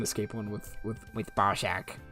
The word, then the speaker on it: Barack: Um, is the prison escape one with with with Barack. I have to say it like that otherwise it just sounds like I'm saying Bzac.